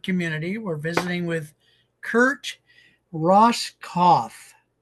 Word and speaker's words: Roskopf: We're visiting with Kurt Ross Kauf. So, the P is silent.